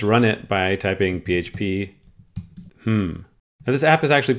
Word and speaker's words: hmm: linked on Hacker News it's called hmm it's actually pronounced hmm and I came to